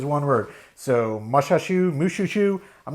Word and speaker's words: Mushhushshu: It's spelled like the word mush, then the word hush, then shu, S-H-U, all squished together as one word. So Mushhushshu, I'm not really sure.